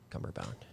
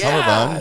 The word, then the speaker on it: cummerbund: Yeah, Cumberbound.